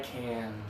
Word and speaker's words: can: This one, if it's positive, do the sound through your nose. I can.